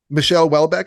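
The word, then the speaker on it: Michel Houellebecq: your name is Luke horlbeck Michelle Welbeck yeah Michelle Welbeck is that how you say it yeah okay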